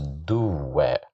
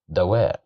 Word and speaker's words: دواء: Here we have the fatha at the top of the letter dal. So we can't pronounce it as duwa. We can't pronounce it as diwa. We pronounce it as da because of the fatha. Da, dawa.